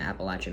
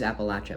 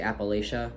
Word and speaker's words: Appalachia: And it is Appalachia, by the way. If you say Appalachia, you're a northerner. You're a Yank. And I'm also a Yank, but I know how to say it. It's Appalachia.